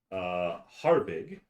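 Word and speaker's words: Hjarvig: Yarvig. It's spelled Hjar. Rudia. And yes, Harvig.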